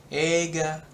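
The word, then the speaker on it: 映画: Ega. Ega. フィルム。 Ya. Tapi bacanya coba ulang. 映画。 Mm-mm. Ega. Mm-mm. Jadi E-nya yang panjang. I-nya tuh kayak nggak kebaca.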